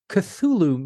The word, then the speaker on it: Cthulhu: He is best known for his creation of the and I'm going to mess up the pronunciation, Cthulhu mythos. No, that's that's right. Cthulhu is exactly how it's pronounced.